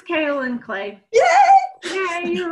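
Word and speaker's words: kaolin: and I went brain dead on how to pronounce the ingredient in the spot treatment. Oh, yeah, she was right. It's kale and clay.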